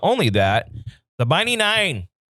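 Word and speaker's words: Nein: But not only that, the Mighty Nine, which is spelled like nine, like no.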